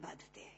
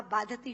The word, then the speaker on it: बाधते: नहीं दे रहा जितना आपके मुंह से बोला हुआ बाधति शब्द कष्ट दे रहा है क्योंकि बाधते शब्द का अशुद्ध उच्चारण आपने किया है यह शब्द बाधते होना चाहिए भारत न बाधती राजन यथा